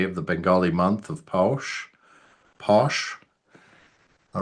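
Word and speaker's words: Paush: The proper pronunciation is obviously posh.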